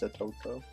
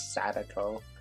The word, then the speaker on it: Satoko: Also love the face, Satoko. They kept getting used to saying her name correctly, not Sadako, which is how I pronounced it the whole first chapter.